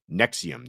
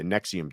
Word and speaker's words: NXIVM: I believe it's pronounced Nexium. Okay. I think you might be right. Nexium. NXIVM. Nexium. The Nexium. The V is a U.